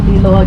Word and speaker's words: Liloa: If Liloa gets a little bit hard to remember or to pronounce, just think of Lilo, like Lilo and Stitch.